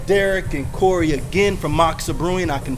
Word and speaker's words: Moksa: with my man Derek and Corey again from maxsa brewing I can pronounce it correctly finally you know a couple